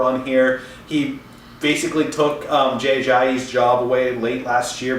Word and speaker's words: Jay Ajayi: He said Jay Ajayi, not JJE.